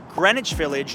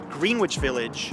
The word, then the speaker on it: Greenwich Village: Another neighborhood you're likely to explore is this one, pronounced Greenwich Village, not Greenwich Village.